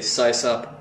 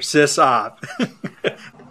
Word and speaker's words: sysop: well by the way I say sigh sup not sis up so yeah System Operator sis op anybody's linguist out there